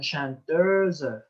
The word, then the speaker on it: chanteuse: Oui, cette prononciation chanteuse, réalisateur, oui, ça c'est le son de la lettre E.